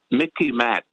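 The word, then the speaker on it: MICIMATT: It's the Mickey Mat. Sort of rhymes with Mickey Mouse, so you can remember it, but it's much more serious than Mickey Mouse.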